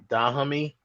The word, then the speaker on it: Dahomey: protected the West African kingdom of how's that pronounced? Dahomey.